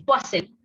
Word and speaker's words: Poiseuille: Yo les puse acá, se escribe Poiseuille, se pronuncia como está entre paréntesis, Poiseuille. Es una palabra en francés, ¿no es cierto? Así que bueno, se escribe diferente, muy diferente a cómo se pronuncia.